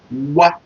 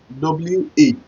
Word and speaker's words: wa: Wa, W-A.